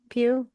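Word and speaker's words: Pugh: hell her name is is that how you say her name Pew yeah pew pew he had something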